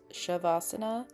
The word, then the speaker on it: shavasana: I was afraid that I mispronounced this the resting pose shavasana. But I think in Sanskrit essay actually is sha um it was from a quick Wikipedia search. So, shabasana and yeah, it wasn't